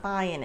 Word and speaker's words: buying: the pronunciation I'm not buying it because it's such a casual expression the g at the end of buying is typically not pronounced like Americans reduce the